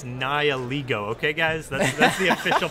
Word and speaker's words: Nihilego: Also, guys, we're going to see Smeargle, and I know I've been saying it wrong, Nihilego, not Nihilego, as I've been told on Twitter.